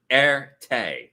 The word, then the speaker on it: arete: Arete. It's spelled Arete. And it's a Greek word.